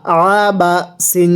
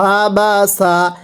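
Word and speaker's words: عبس: জবর বা জবর বা আবা সিন জবর সা আবাসা এই আইনটা উচ্চারণের সময় গলার মধ্যে হালকা চাপ দিয়ে পড়তে হবে পড়ুন আবাসা আবারো আওয়াজ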